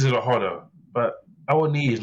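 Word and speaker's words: Awoniyi: I just think of Ledley King and say and one knee in it.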